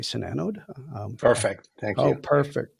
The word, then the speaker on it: SiNANODE: a product line called sanod now am I pronouncing that correctly sanod perfect thank you oh perfect perfect so yeah